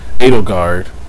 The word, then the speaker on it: Edelgard: Edelgard.